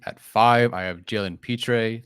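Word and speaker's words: Pitre: five i have jalen petrae that's how you say his name uh from baylor and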